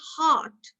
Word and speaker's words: heart: So when I say heart, do I pronounce the R or do I not pronounce the R? Chris, please say heart for me. Chris. Heart. Heart. Heart. So are you pronouncing the R, Chris? No, ma'am. No, ma'am. No, ma'am. Directly No. it goes to T. Yeah, so you directly go to T, right?